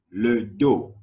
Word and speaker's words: dos: S is silent. Le dos.